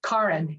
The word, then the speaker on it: Karin: this is my life Karin is my name kin not Karen it's Karin it's Norwegian it's not like an affectation it's a Norwegian name